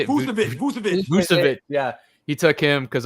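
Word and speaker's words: Vučević: Vucevic.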